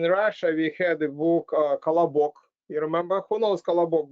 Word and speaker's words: Колобок: And in Russia, we had a book, Kolobok. You remember? Who knows Kolobok book? Raise your hand. Kolobok.